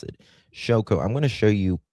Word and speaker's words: Shôko: That's how we pronounce it. Shôko.